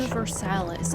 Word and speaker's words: Universalis: Universalis. Okay, now I know how to the fucking pronounce it.